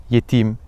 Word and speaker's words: yetîm: As for those with the second vowel long; "yetîm" (orphan), tabîp (doctor). These are of fa'îl wazn.